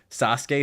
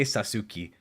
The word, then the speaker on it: Sasuke: without having heard it most Americans will pronounce Sasuke sasuki and it's the greatest